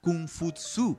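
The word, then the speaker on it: 孔夫子: de todos que es el de confucio cuya pronunciación en chino más de semeja cum footsie de aquí nadie se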